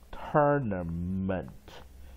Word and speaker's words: tournament: long vowel O U R as long vowel pronounced as er ter ter，然后 weak vowel A N E tournament tournament。好，所以我们就看到它是重音在第一音节，啊，弱音在二三，tournament tournament，或者用这样标也可以，tournament tournament tournament，啊，两种标法都